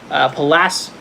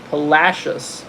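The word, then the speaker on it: Palacios: Palacis? Is that how you say it? Palacis? Says Tina. Palacious.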